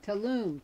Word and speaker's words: Tulum: King and it's called how do you pronounce it Tulum t-u-l-u-m I was thinking Tulum Tulum that sounds okay that sounds better and and we also